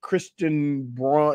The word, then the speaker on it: Christian Braun: And then Christian Braun, is it Braun or Brown? Brown, which is annoying because it's spelt Braun.